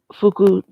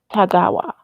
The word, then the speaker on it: Tagawa: Kombat in the 90s version is that Kerry Fukujawa, let me make sure I am saying his name right. We are pronouncing names right in this. Kerry Tagawa.